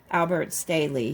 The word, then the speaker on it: Albert Staehle: Okay, Mike says this name here is Albert Staehle.